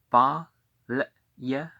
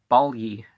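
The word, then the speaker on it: Balye: V-Pa-A C-H-I-S Kias T-A-T-A-N Tatan O-D Ode T-R-A-N-A-N Tra-Nan B-A-L-Y-E Ba-Le-Ye Okay, ly is... Balyi is pretty easy as a 2-syllable, but it's 3 syllables. Ba, ye, e, or e, ba, le, e.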